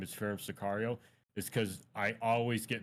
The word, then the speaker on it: Pherem Sicario: why I always say, "Hi, my name is Pherem Sicario," is because I always get messages, "Hey man, how do you say your name?